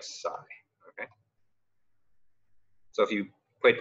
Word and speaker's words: psi: S okay and so the way that you pronounce this is like Sai okay so if you